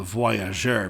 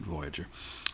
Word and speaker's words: voyageur: minnesota called it well it should be called the voyageur but people pronounce it voyager when we hear the